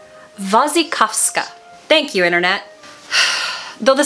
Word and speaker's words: Wasikowska: Wasikowska.